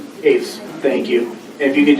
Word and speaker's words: Hoefs: Pronounce that right? Hoefs, thank you.